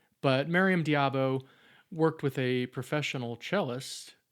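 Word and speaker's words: d'Abo: This is Miam Diabu. I keep saying it wrong. I think it's Diabo.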